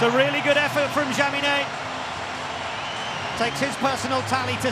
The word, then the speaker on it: Jaminet: Don't pronounce the CH. There we go. Now we all know. So, a sing-song ahead of Jaminet.